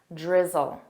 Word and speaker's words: drizzle: Oh, I hear a lot of pronunciation mistakes. Drizzle. Repeat after me. Drizzle. Zl. Drizzle.